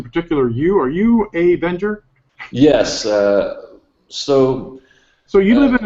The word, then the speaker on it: Wenger: In German it's pronounced Wenger, so I called myself Avenger.